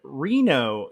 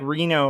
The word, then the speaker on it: Renault: okay uh Debbie uh said Reno is the correct pronunciation it's French if that helps thank you that helps a lot I hope I got it right that time so it's like Reno like Reno Nevada or Renault now I'm I don't